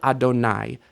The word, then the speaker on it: Adonai: the different possibilities, but the correct readings of this word would be Yahweh or Adonai. Yehovah is not a correct reading. It's a misunderstanding of the pointing of the text.